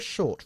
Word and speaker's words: short: La T se pronuncia más Short. fuerte, ¿no? Short. ¿Ok? Arriba en la boca. Short. En el techo de la boca.